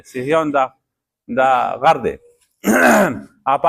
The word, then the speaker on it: صهیون: دغه غر خلق نن سبا غلط تلفظ کوي، سیهون وایي، حالا کې دا ها چې دا مخکې دا یا وروستو دا صهیون. سیهون ورته وایي، سیهوني جنګونه دي، سیهوني انقلاب دی. نه دا دغه دی صهیون، دا غر دی او